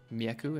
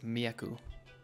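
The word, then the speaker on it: Mjeku: says Mick it's so it's an Albanian word me aku it means the doctor and you can pretend like the J is a why I don't know why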